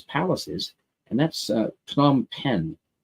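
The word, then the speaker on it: Phnom Penh: is and that's uh P pen it's really hard for me to pronounce because it's P and H and then n right together a lot of consonants but I believe it's P pen uh please correct me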